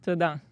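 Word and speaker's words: תודה: "Toda." Todan. When in doubt, I go shalom because it means so many things. yeah, like because aloha. you got everything. Yeah, it is. Mahalo. Toda.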